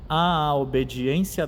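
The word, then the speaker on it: à obediência: A obediência da fé, o A com crase, então cuidemos aqui para a gente pronunciar esse A duas vezes, a obediência.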